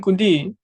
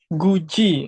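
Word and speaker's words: 굳이: Bukan dibaca di tapi menjadi C. Contoh ini bacanya apa ini? Gud bukan kudi Guji. Betul jadinya Guji.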